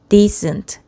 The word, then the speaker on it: decent: decent tent 디에스 데이즈 뒤를 살짝 길게 해야 되네 d 에이스 발음 기회도 d 에 약간 뒤에 길게 하라 고 살짝 표시되어 있어 sde 엔트 디 슨 트 그래서 요거 가 뜻이